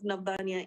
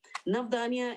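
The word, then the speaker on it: Navdanya: see it please go to the website of nabania international navdhania is spelled n-a-b d-a-n-y-a it means nine seeds and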